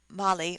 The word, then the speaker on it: Marie: called her molly footnote the indians pronounce the word marie mali or mali bolinquis miss mali sounds